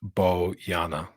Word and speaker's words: Bojana: Name is pronounced Boyana.